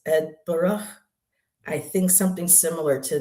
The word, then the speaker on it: Edinburgh: on Instagram that was teaching people how to properly pronounce is he says, and he's and he's from Scotland, and he goes, "It's not Edenburgg, it's not Eden Burough, it's Edbur.